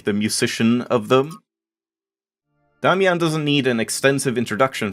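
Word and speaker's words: Damjan: It's Damian, like Damien. It's the same, like, root name as Damien.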